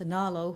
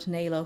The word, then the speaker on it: Nalo: before the con I learned that it is pronounced Nalo Hopkinson and not Nalo Hopkinson.